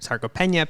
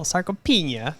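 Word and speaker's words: sarcopenia: Um, Vanessa and I were looking up is it saropena pina. Um, and I just could not stop laughing because I was like, "Oh, sarcopena." But he was like, "I don't think you're pronouncing it right."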